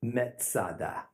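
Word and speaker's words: מצדה: Masada Masada is merely a Roman way to pronounce the Hebrew word Metz ah da fortress high place now we're gonna run across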